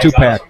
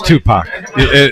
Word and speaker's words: Tupac: I don't know if you guys just heard he said Tupac. Topac. Yeah, it's Tupac.